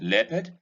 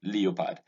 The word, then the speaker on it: leopard: The EO of leopard is E and not EO. Nigerians would say leopard.